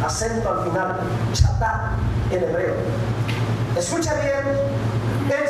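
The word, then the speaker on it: חטאת: los originales, esta palabrita pecado significa o se pronuncia chatá.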